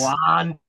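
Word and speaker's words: Wan'Dale: It's Wandale. Wandell Robinson.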